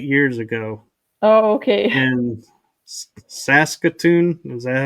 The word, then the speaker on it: Saskatoon: in Saskatoon. Is that how you pronounce it?